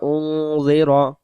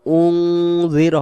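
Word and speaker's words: أُنذِرَ: ফাহুম গাফিলুন বললে উচ্চারণ ভুল হয়ে যাবে, এখানে কম আম্মা উন জিরো হবে না, উং জিরো হবে, হামজা নুন পেশ উং, জাল জের জি, উং জি, র জবর র, কওমাম মা উনজিরা আবাউহুম ফাহুম গাফিলুন।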